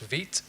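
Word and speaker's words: Vite: I've highlighted the ones I personally use that's pronounced vit if you're um bootstrapping an app very quickly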